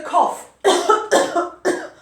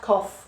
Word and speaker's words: cough: This one's got an O sound. So cough. I have a bad cough.